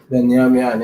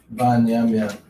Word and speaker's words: Benjamin: Benyamin, yes. That's correct. Banyamin. Not Ben, though. Ban. Yam. Yan.